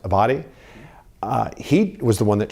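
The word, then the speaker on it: Abbate: One of the deputies for former Director Wray, Paul, I believe his name is pronounced Abadi, he was the one that shared with us that, he has these anti-immigrant and anti-Semitic views.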